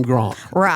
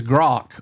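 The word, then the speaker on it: Grok: But everybody calls him Grank with an N. Yes. This is Grock without an end.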